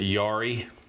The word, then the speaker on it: Jari: The lead guy, his name is, I'm going to pronounce it Jari.